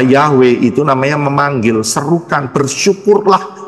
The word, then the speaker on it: Yahweh: itu jelas y he W he nulisnya dan eh pelafalannya adalah yahwe itu namanya memanggil serukan